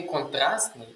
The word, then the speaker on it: контрастний: Якщо слово іншомовне закінчується на ситинь, то при утворенні прикметника ця літера ти зберігається. Отже, буде контрастни. Але у вимові ця літера так само випадає. Ми її не вимовляємо.